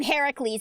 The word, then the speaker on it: Heracles: that actually uses that actually pronounces his name Heracles instead of Hercules yeah I I wasn't